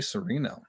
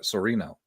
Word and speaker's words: Sereno: Most people call me a Serrano pepper, so you got it right.